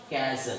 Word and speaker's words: castle: Castle, C-A-S-T-L-E. Castle. Oh, T is silent.